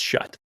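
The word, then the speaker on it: Schutt: It's not Vicus, it's not VCs, it's Visus. Oh man, yeah. Right? It's Visus, it's Riddell, it's Shut, and it's Zenith. That's how they're pronounced.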